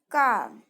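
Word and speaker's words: calm: Then काम. काम means शांत. इसमें एल साइलेंट होता है.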